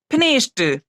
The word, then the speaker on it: finished: वो कैसे FINISHED, इसके साथ हम लोग क्या जोड़े हैं ईडी जोड़े हैं, तो ये जो स आप यहाँ पूरा लिख रहे हैं तो ये आधा स हो जाएगा और डी का उच्चारण क्या हो जाएगा ट हो जाएगा।